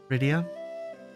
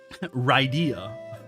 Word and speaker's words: Rydia: Rydia, Ryia, going to say it like that now just to piss you guys off.